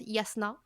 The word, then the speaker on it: Jasna: Puis là, on aurait dit que Jasna, apparemment ça se prononce Yasna, Ah Ok, ouais, ok. yes. apparemment le J c'est un Y.